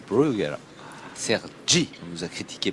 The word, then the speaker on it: Bruguera: faite bien longue surprenant rugeras rugera pardon sans s yes brugera Sergi on nous a